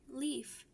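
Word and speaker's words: Leif: my name did I I'm Leaf like the fluttery part of a trees it's spelled like l e i f uh what's your name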